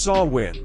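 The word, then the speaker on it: Samhain: It came from an ancient Celtic festival called Sawin, pronounced sawin.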